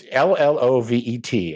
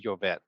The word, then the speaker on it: Llovet: every time, is that I think it's pronounced Jove. That's how I would pronounce it if I were pronouncing it with my 8th grade Spanish. Crave. But it's Llovet, and I'm Oh, thinking oh, oh, oh. Jove. Jove? So if it's Spanish, it would be Jovet.